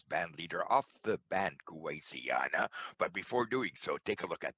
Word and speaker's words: Kuwaisiana: How do you pronounce it? It's good at Kuwaisiana.